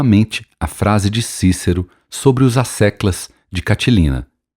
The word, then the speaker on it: Cícero: Pois então, se bobo é, que Cícero, Quíquero, na pronúncia clássica, me perdoe.